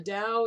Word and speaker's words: Dao: the DAO now the dow is spelled sometimes t AO and sometimes d AO but it's always pronounced like a D the Dow so the